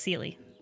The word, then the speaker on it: Seley: But yes, it's pronounced Seley.